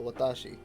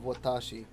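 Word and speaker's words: わたし: in the table above when foreigners incorrectly stress the middle syllable of watashi the first watashi the first syllable is usually warped as a result and the final word sounds like watashi but wha is on japanese sound at all so if you play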